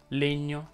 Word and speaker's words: legno: Anche le terminanti in egno richiedono una pronuncia chiusa. Si dice regno, pegno, legno, degno, sostegno, ingegno e così via.